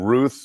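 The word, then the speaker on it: Routh: more time for the record how do you pronounce his last name sheriff is it Ruth or Ralph I've heard both I say Ralph all right that news conference now breaking up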